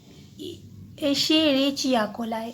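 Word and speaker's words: Escherichia coli: Other activity में आपका दिया गया है, यहाँ पे एक बैक्टीरिया है इसेरेचिया, इसका प्रोनाउंसिएशन आराम से करिए, एशेरेचिया कोलाई।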